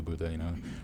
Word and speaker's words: Buddha: in Hindi to the Buddha. Rather than calling him Buddha, they're calling Buddh, because the way they say it in Hindi, they take off the last syllable.